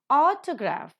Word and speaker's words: autograph: Autograph, the first syllable is accented.